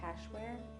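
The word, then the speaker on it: Kashwere: It's by Cashware, and it's spelled Kashware. W-E-R-E, and I found this.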